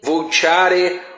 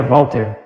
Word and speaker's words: Voltaire: Pronúncia é verdadeira Voltaire, nada de Voltaire. Voltaire é para todos os analfabetos. Qual é a dificuldade de dizer Voltaire?